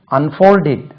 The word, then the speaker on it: unfold: அன்ஃபோல்டு unfold FOLD unfold, unfolded unfolded FOLDED unfolded, unfolded unfolded FOLDED unfolded, unfolding FOLDING unfolding. Second syllable தான் unfold இல்லது, unfold, unfolded, unfolded, unfolding.